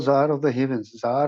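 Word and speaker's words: czar: था आप उसे को जार होता था रूस के सम्राट को पदवी दी जाती रूस के सम्राट को य जार की पदवी दी जाती थी सी साइलेंट इसमें जार ऑफ द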